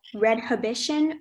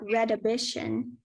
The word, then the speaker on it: redhibition: The pronunciations are redhibition or redhibition.